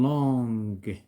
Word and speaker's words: longue: Une longue marche. Pourquoi nous avons ajouté U? Pour se prononcer EG. Ce n'est pas J.